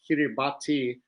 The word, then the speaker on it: Kiribati: It's just the TI sound is like an S. So like Kiribati is Kiribati.